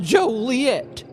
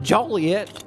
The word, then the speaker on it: Joliet: The town's pronounced Joliet, not Joliet, you out-of-town grifter.